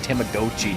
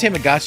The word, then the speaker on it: Tamagotchi: I have to re-pronounce Tamagotchi's Tamagotchi now because apparently that's Yeah, how they it's pronounced. said it weird in the direct. Come on, it's Tamagotchi. I thought it was Tamagotchi because it's a gotcha.